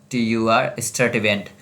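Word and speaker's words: Sturtevant: कभी एक बार पूछा गया ये नाम भी, अल्फ्रेड एच, अब इसका प्रोनाउंसिएशन खुद कर लो, एस्टरटीवेंट, स्टर्टिवेंट।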